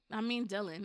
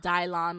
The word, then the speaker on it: Dylan: Yeah, Dylan. I wanted to name my son Dylan, but my ex told me that people would think it's pronounced Dylon, like the rapper.